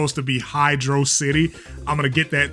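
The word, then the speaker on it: Hydrocity: There are people out there still vehemently denying that it's Hydro City.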